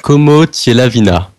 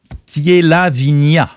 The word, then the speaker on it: Comotyelavinia: Je me permets, mais il y a une petite erreur de prononciation. Voilà. peut-être. C'est à la fin. ah oui. De la vignasse. Alors, Como Comotier-Lavigna. Hein, c'est voilà, ça. Comotier-Lavigna, ouais.